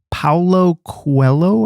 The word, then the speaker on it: Paulo Coelho: Paulo Coelho, I think is the way you pronounce it.